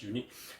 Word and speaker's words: Yuneec: why they call it unique okay but it's spelled as Y u N E C okay pronounce as unique okay this is different